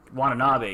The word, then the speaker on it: Watanabe: where Ken Watanabe This is Ken Watanabe, yeah. Watanabe, yeah, there you go. I've never heard his last name pronounced, so there you go.